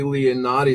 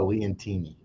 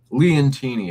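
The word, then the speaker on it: Leontini: This Sicily Leonati. This was a very mintstate looking coin. I wasn't too fascinated by the art, but I thought it was very well struck. And yeah, that's pronounced Leantini.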